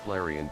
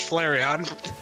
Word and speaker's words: Flareon: is tail so bushy so bushy bushy is flarian tail nay the meal why did TDS pronounce I'm pretty sure that's just Flareon because of my Pokemon's really happy to